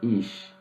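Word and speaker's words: אִישׁ: temos uma conexão fonética a palavra mulher se pronuncia Iá a palavra homem se pronuncia is a palavra fogo se pronuncia Ash tudo é muito parecido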